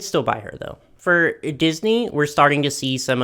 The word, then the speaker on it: Disney: For Disney, we're starting to see some of the dolls for the upcoming live-action Little Mermaid movie.